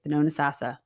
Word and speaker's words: Thonotosassa: So Thonotosassa, which is Thonotosassa, and everyone mispronounces it. The T is silent in the middle. Thonotosassa has a lot of land there.